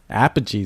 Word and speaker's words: Apogee: But one of the PR people from Apogee, how are we pronouncing it? Apogee.